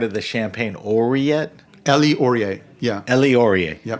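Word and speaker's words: Ouriet: Elie Auriet.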